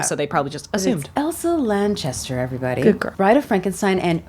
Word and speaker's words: Lanchester: thought her name was Elsa uh Lancaster but it's Lanchester so I happened to